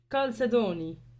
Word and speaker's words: chalcedony: That's pronounced chalcedony. تحسب Chalcedony. Chalcedony. Chalcedony. Okay, so apparently it's Chalcedony.